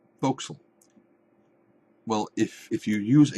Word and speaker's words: forecastle: terms voxel is spelled f-o-r-e c-a-s-t-l-e looks like forecastle like the forward castle the fort castle but it is pronounced foxel well if if you